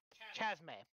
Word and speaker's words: Chasme: gate cannot um cannot chasme is how you pronounce it chasmae so it's a very